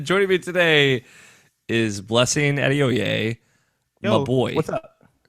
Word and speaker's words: Adeoye: So like it's pronounced Adeoye, but I tell people Adoye just because it's like less syllables, just so it's Hmm.